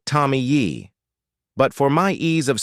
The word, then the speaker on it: Tomie: And let me tell you, the pronunciation of Tommy in Japanese is a bit like Tommy Yi.